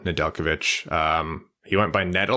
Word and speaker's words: Nedeljkovic: A quick note, you'll notice us saying Nedeljkovic. That's just how you pronounce it. I know people get hung up on the J, but good for you to learn that now. Nedeljkovic.